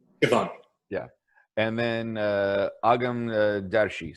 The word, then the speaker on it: Siobhan: So I can never pronounce her first name. Miss Williams. Siobhan. Siobhan.